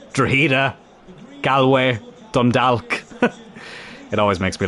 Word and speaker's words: Galway: or as most people like to pronounce it who aren't from here, Galloway.